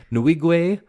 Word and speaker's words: Nwigwe: them all day long his name is Toby nuigwe which is spelled n-w-i-g-w-e and uh check them out there's